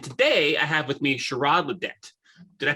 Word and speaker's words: Shirrod Le'Det: host kevin and today i have with me sherrod ledette did i pronounce that right you did yes sir okay